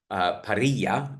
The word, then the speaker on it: parrilla: And the other thing is that the classic Argentine parrilla in Spanish, but in Argentina they pronounce a double L like a J, is the Argentine barbecue, and they literally cook every part of the cow.